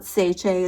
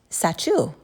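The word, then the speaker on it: Sacheu: So, have you guys heard of I call it seichae. It's probably seo. Hey you guys, of course I had to look it up and it is actually pronounced sachu. Almost like you're sneezing, but this way we won't forget it.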